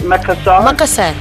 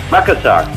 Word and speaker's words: Makassar: And Makassar, how do you pronounce it? Makassar? Makassar.